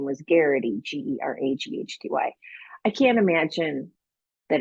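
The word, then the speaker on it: Geraghty: aghs everywhere I mean my maiden name was Garrity g-e-r-a-g-h-t-y I can't imagine that it's not I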